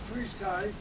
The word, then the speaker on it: FrSky: So, anyway, um to introduce to FrSky, that's how the correct pronunciation goes.